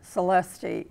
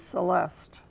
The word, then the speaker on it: Celeste: our um hint because you don't pronounce my first name celesti it is Celeste and then I got